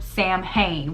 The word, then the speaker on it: Samhain: So Halloween is actually named after Sam Hain, which originally is pronounced as Samhain, and it actually means to honor Samhain.